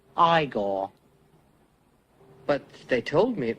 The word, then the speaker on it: Igor: No, it's pronounced Igor. But they told me it was Igor.